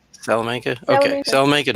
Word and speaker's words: Salamanca: i can never pronounce it's salam salamanca like south like salamander hey you got it salamanca okay so i'll make